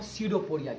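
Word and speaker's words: pseudopodia: called आगे syrup ओरिया इनको हम skirtoporia कहते हैं पीस साइलेंट होता है सी दो पुरी और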